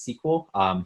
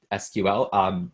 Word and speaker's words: SQL: introduction to sequel and note that I just pronounced its sequel not SQL both are technically correct I tend to hear